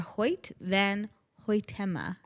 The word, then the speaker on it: Hoyt van Hoytema: They tapped cinematographer Hoyt van Hoytema.